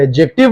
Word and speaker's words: adjective: chapter which इस एडजेक्टिव उसको एड एडजेक्टिव नहीं बोलते हैं दी जो है साइलेंट होता है सो मैं आपसे रिक्वेस्ट